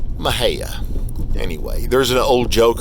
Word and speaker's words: Mexia: invariably, when people come to visit, they'll call it Mexia. Well, the locals pronounce it Mahia.